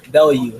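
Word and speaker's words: Bellew: he's talking about but so bellu not Belo but bellu I'm saying his name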